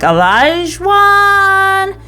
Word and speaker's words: Olajuwon: So they walk off, and Katina is asked how to pronounce his name, and she's like, Olajuwon.